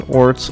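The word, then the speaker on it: orz: There's no set way to pronounce it as such. People may pronounce it as orts, ors, or ors.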